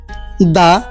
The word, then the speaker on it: the: দা বসুক দা হোক টি এইচ ই বসলেই আমরা দা উচ্চারণ করব দা সান দা সান